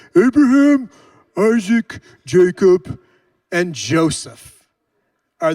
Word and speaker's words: Abraham: go like this Patriarchs you got Abraham you have to say it like this Ibrahim Isaac Jacob and Joseph